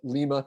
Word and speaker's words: Lima: like rustbelt town called Lima Ohio um Lima but Lima because it's Ohio you know we pronounce